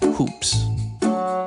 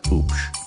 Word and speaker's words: Hoops: Your last name is Hoops. My last name is Oops. No, your last name is Hoops. Like basketball hoops. No, it's Oops. The H is silent.